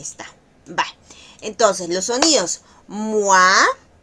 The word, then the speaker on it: moi: Esta palabras, este sonido es bien importante y es bien fácil tropezarnos con la pronunciación porque muchas veces podemos incluso llegar a decir moi en vez de mua.